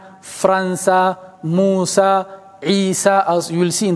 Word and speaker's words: عيسى: no dots But that is an alif. Even the pronunciation Musa, it's not Musi, it's not Isi, it's not Mustashfi, It is Mustashfa Isa Musa.